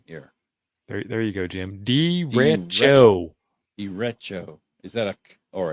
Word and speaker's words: derecho: Derecho. Derecho. Is that a or a ch? It's a ch, because otherwise he'd put a K.